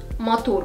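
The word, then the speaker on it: матур: Matur. Beautiful. Matur. The stress is on the last syllable. Tur.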